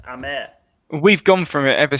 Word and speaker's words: Hamer: look out for for sure james it's pronounced hamer boys it's actually pronounced amer is brazilian it's brazilian descent i think we're